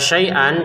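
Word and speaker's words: شيئا: Kata syai'an kita baca syai'a ya, terbacanya syai'a. Kenapa? Karena kita berhenti ya.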